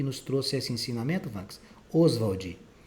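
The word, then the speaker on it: Ostwald: O que tem de chamar atenção no nome do Oswald é que tem uma letra T no meio do nome dele, tá? Mas ninguém vai pronunciar esse T aqui não.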